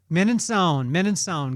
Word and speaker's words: Mininsohn: Mininsohn.